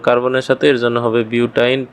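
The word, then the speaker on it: butyne: আর 4 কার্বনের জন্য এটা উচ্চারণ হবে বিউট, আর লাস্টে উচ্চারণ হবে আইন। তাহলে বিউটাইন। আর কার্বন ত্রিবন্ধন আছে 2 নম্বর কার্বনের সাথে, এর জন্য হবে বিউটাইন 2।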